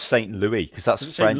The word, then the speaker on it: Saint Louis: it's pronounced Saint Louis because that's Is it St.